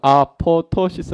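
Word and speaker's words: apoptosis: 시스 라고 이야기 해요 뒤에 피가 2개가 나오는데 뒤에 피는 묵음 이에요 묵음 그래서 아 포터 시스 라고 그런데 1 쩍 이제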